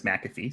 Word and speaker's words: McAfee: Well, so it's named after John McAfee, and I believe I've heard him pronounce his own name as McAfee.